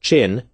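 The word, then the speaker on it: 朕: pun the fact that the imperial we pronounced chin was a homonym to a slang word for penis or prick Why was General MacArthur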